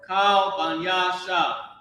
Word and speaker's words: Kal Banya Shah: All right, and this should be said just like that. Kal Banya Shah. Okay. Kal Banya Shah. That's why the dash is over there. This is all pronounced together. This is one phrase.